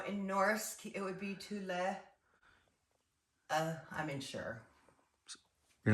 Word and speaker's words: Thule: In Svensk, it's Thule, not Thule.